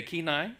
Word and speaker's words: Kenai: Okay, Kenai, right?